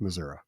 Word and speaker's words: Missouri: actually say that Missour if you are not in Kansas City or St Louis it's pronounced Missoura seriously I did not